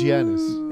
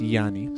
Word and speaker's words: Giannis: Why do you mispronounce his name? It's Giannis. It's Yanni. Stop. Because I'm Greek.